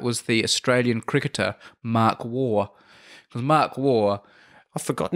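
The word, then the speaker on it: Waugh: break into the team the surname war is spelt w eh ugh ah sounds like war world war two but it's spelt differently mark war finally kind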